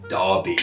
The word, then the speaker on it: Derbyshire: but the spellings didn't it's why someone like uh derbyshire is spelled d-e-r-b-y should be like div even though we pronounce it darby we we're very silly